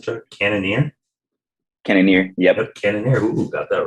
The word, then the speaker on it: Cannonier: Cannonier, yep.